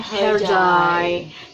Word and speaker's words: Hercai: Turki itu dibacanya DJ harusnya hercai dibaca her Coy itu ya jadi for